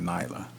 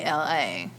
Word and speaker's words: Nala: There's no I in Nala. Nyla. That's what I'm saying, Nyla. There's no Y in Nala. it. It's Nala.